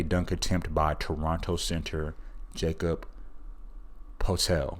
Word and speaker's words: Poeltl: attempt by Toronto center Jakob Poeltl. I believe that's how you say his name.